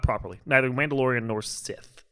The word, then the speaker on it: Sith: Neither Mandalorian nor Sith. Not without stealing it. Yeah. It's not pronounced scythe. Sith. Sith.